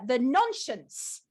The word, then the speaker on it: Nonscience: Now, Brian has done an updated version of the Nonscience book from 1971. Did I pronounce that correctly, Brian? You schooled me yesterday. Yes, you did. The Americans always say nonsense.